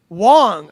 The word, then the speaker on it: Wang: And then Ben Wong. I think it's Wong. It's it's spelled W A N G, but I think it's pronounced Wong.